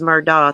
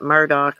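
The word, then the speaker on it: Murdaugh: pronouncing their name correctly i don't think it's murdoch i think it's like murdock or something like that that's a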